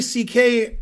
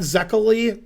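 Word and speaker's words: Székely: And the pronunciation in English is close to C.K., not Zekely, which you would say if you were American like me.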